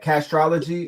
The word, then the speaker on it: Castrology: Castrology or it's castrology. Just astrology in the front. Castrology for life. Just astrology with the C in front.